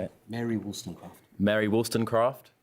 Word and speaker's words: Wollstonecraft: Mary Wollstonecraft.